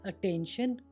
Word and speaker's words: attention: टी श कब बनेगा? टी के बाद IA, IE, IO आएगा तो टी का उच्चारण श हो जाएगा।